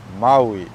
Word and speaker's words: Maui: to catch them but the way we pronounce this word is Maui yeah what gets difficult for most people is that there's three vowels yeah and these aren't regular vowels these are Hawaiian vowels and that's what trips